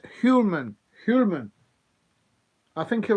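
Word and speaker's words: Hjulmand: And Julian, Hulman. He's pronounced Hulman.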